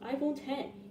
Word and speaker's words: iPhone X: was no iPhone 9 the iPhone x is pronounced iPhone 10 it was beginning to